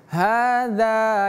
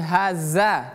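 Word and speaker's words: هذا: Hadza yaumu. Ini ha besar seperti yang sudah kita bahas tadi. Ha hadza ini dzal. Jadi bacanya hadza bukan haza tapi hadza.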